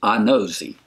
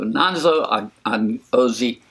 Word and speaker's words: Anozie: I looked this up, Anozie. I've been going to Google to try to get these pronunciations. So Nonso Anozie.